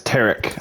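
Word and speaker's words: Tarik: It's Tarek.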